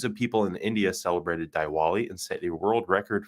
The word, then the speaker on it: Diwali: holiday in India celebrated called dwali I believe is how you pronounce that so over the weekend millions of people in India celebrated Diwali and set a world